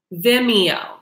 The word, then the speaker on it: Vimeo: I'm sorry my friend taught me how to pronounce this it's called Vimeo you'll want to pay through Vimeo so all